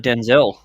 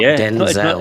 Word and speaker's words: Denzel: It was him versus Denzel in that.